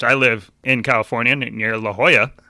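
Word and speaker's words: La Jolla: one was which I live in California near La Hoya it's spelled Joya G yeah and I was like wow what an absolute idiot pronouncing it Le leya and mind you I pronounced it leya for the first 100 times I ever said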